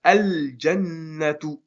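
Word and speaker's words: الجنة: Donc ça va être al-jannatu. Ça veut dire le jardin. Al-jannatu. On prononce le lam. Al-jannatu.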